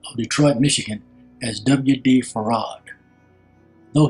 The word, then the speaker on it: Fard: Detroit Michigan as WD farad though he spelled his name as f a r d he pronounced it as if it had two syllables a rod he told